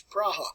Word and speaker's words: Praha: If you go to Prague today, it's pronounced as Praha.